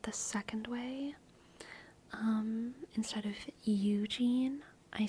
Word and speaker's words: Eugene: My favorite place in Eugene, Oregon is the Carmelite Monastery.